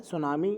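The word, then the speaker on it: tsunami: सुनामी अच्छा ठीक है सुनामी यहां पर लिखा हुआ है सुनामी ने भी बताया कि साइलेंट होता है कौन-कौन तो 16 दिसंबर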